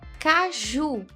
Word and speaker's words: caju: Caju, tônica na última oxítona.